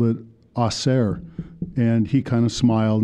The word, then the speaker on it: Acer: didn't use the word Acer I called it Acer and he kind of smiled and he said well Acer and um later I found out that uh really the proper Latin name would be pronounced aare so maybe I was more right than he